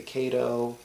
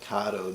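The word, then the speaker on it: Kato: know a lot of people out there say KO um I call it kado just because that's how the employees at kado USA pronounce it so that's how I pronounce it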